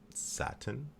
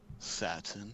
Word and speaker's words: Satin: The next card is depending on how you like to pronounce it, Satin. Satine. Satine. Satan. And Satine.